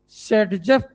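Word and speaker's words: Saytzeff: alkene is known as सेडजफ product then then most stable alkene is known as सेडजेफ spelling बताऊं आसान था यार एस ए वाई टी जेड E double F सेडजेफ product and least stable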